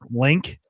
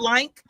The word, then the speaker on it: Link: Also, by the way, Game, it's pronounced link. It's not lank.